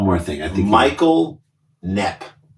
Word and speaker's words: Knepp: I think Michael Knepp. K-N-E-P-P. He stole the sound of the K. that's a silent K because he's the silent killer.